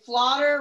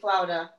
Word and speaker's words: Flotter: thing no that's weird i always just have to say flotter rhymes with water and people still call me flouda no matter what are